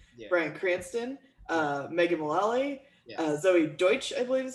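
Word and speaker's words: Deutch: Starring James Franco, Bryan Cranston, Megan Mullally, Zoe Deutsch, I believe is how you say her last name.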